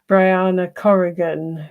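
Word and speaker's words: Brianna Corrigan: I saw um Bri Bri I know you pronounce it Briana Corgan who was um the the one of the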